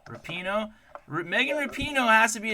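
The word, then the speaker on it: Rapinoe: do you say her last name it's it's rapino rapino Megan rapino has to be a Trailblazer for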